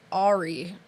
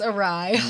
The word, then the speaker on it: awry: the Killer's plan went Ahri or awry oh my gosh it went awry yeah so dumb that's how I used to pronounce it as a kid when I read it in books it's awry we need to make